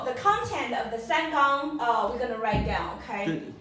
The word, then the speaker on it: 綱: And it pronounces like this. Gang.